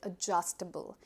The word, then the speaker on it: adjustable: So whenever you pronounce it, remember the D is missing. Just eliminate the D and call it adjustable.